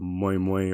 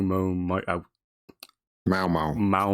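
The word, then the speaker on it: Maomao: And Yes, Japanese light novel, now anime, and we followed the adventures of Moi Moi or Mao Mao. Mao Mao.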